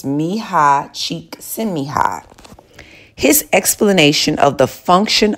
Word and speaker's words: Mihai Csikszentmihalyi: It's a very difficult name to pronounce, but it's Mihai Csikszentmihalyi.